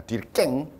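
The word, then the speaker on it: Durkheim: 뒤르캠이 아니라 뒤르깽, 불란서식 발음으로.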